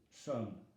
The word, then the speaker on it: sommes: Nous sommes. M-E-S ne se prononce pas.